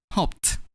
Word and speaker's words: hoped: Next, when we add a D to the verb hope, which has the ending sound per, we're going to pronounce a D as T. Hoped.